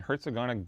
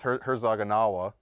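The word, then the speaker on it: Herzogenaurach: for it okay adidas headquarters are based in Hertz agonic Germany you're pretty much pronounce that how do you spell it that's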